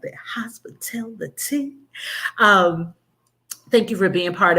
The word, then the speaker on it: HospiTellTheTEA: And every time you say it, I want you to say it like that, HospiTellTheTEA.